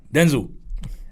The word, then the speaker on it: Denzel: Denzel. Then there you go. You've pronounced it right.